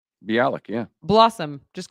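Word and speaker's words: Bialik: TC uh beik did I say it right be Alik yeah Blossom just call her Blossom that's who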